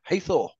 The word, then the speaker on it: Hathor: How do you pronounce that? Hathor.